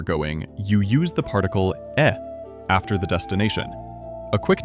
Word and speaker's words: へ: you use the particle e after the destination. A quick note, this particle is written with the hiragana for he, but when used as a particle, it is always pronounced e.